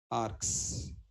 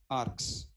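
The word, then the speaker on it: args: the arguments short form we will pronounce as ARS what you pronounce as arcs okay then tell me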